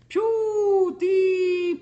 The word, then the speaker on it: PewDiePie: It's PewDiePie.